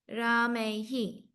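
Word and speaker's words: रामैः: Ramena, Ramena, Ramabhyam, Ramabim, Ramabhyam, Ramabim, Ramehi. Ramehi, Ramehi. Not Ahi. Ramehi, Like AI. Ramehi.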